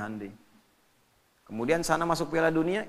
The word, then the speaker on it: Hyundai: Jepang bikin Honda ya Korea bikin hundai Hyundai bacanya hundai kemudian sana masuk Piala